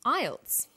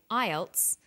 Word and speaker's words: IELTS: acronym with an acronym we don't pronounce the individual letters we pronounce it as a word so we say IELTS not i e l